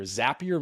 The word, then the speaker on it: Zapier: And Zapier, the easier way to remember how to say it because most a lot of people call it Zapier. Zapier makes you happier.